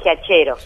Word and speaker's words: Giachero: Sí, en realidad me dicen de varias maneras. Por lo general se dice como se pronuncia, Giachero.